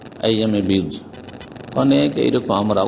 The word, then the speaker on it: আইয়ামে বীজ: আইয়ামে বীজ কথাটি বীজ, আপনি বীর্জ লিখেছেন। এই শুদ্ধ উচ্চারণগুলি আপনারা ঠিক করে নেবেন, আর না হলে বাংলায় বলবেন আইয়ামে বীজ।